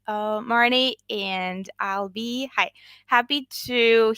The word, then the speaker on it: Marney: And I'm Marney, and that's an EY at the end. Marney, and I'll be happy to hear any types of questions you guys have.